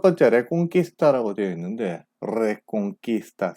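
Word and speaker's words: Reconquista: 일단 첫 번째 레콩키스타라고 되어 있는데, 레콩키스타 스페인어 제대로 발음하면 레콩키스타. 예, 혀를 좀 굴려줘야 되죠.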